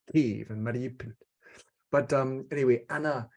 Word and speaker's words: Kyiv: cities, I used to have another way of pronouncing them. Now we have to learn it's Kyiv and Mariupol.